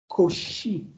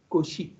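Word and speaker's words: Cauchy: But originally the name is koshi coi she as if it is sh not chosi koshi because because of if you try to really say uh coi ki that is koshi koshi.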